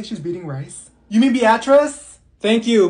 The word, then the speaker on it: Beatrice: Olivia here if your name is Olivia it's pronounced Olivia that's like the easiest name in the world it's beet rice here did she say she's beating you mean Beatrice thank you Mikhail ma'am it's Michael okay what